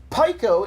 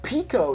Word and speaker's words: pico: cultist Oddish Caitlyn Rose the prefix Pico is pronounced Pico not Pico and for context most